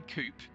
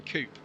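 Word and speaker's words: coupé: I don't think I always bump on coupe. I don't know why, but there you go. You've got no problem saying other French words that have an accent on the end. You don't call it a buffet or a ballet.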